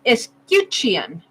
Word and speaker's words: escutcheon: Pronounce escutcheon.